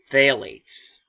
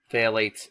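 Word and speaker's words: phthalates: Florida Alligator and basically phalates phalates spelled with a p h t h a l a t s those are substances that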